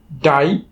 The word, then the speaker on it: die: তো এখন উচ্চারণের নিয়ম অনুযায়ী যদি কোনো ওয়ার্ডের শেষে আই এবং ই একসাথে থাকে তখন সেই আই এবং ই কে আমরা একসাথে উচ্চারণ করব আই। যেমন DIE ডাই, FIE ফাই, LIE লাই, TIE ঠাই।